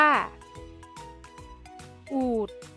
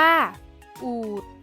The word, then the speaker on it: อูฐ: ตัว สะกด แม่ กด ที่ มี ฐ ฐาน เป็น ตัว สะกด ออก เสียง เป็น เสียง ด เด็ก ได้ แก่ คำ ว่า อูฐ อ่าน ว่า อูฐ อ่าน ว่า ประเสริฐ อ่าน